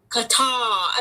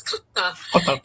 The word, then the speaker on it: Qatar: They pronounce it. They say Qatar, and I'm just like, it's not Qatar, it's Qatar.